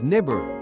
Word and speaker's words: Nibiru: The true pronunciation they say is nibber written as ni b i rv.